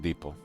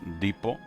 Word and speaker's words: depot: Uh I wasn't sure, you know, if I was pronouncing this word right, depot. Uh Americans say depot. like it's deep depot but uh uh United Kingdom English it's depo and if somebody says